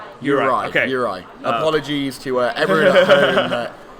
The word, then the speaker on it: Juraj: So we're getting pronunciation tips, because the very British way of saying these names is not necessarily correct. Yuri. Juraj.